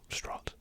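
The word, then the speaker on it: Strauss: course Robert Downey Jr as strong strut strut is how he pronounce his name uh the character no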